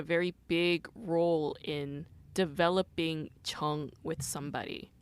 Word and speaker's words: 정: there's this word called chung. It's, I guess, it's pronounced the same as my last name, but the Sino-Korean character is written differently. It stems from the Chinese character chung.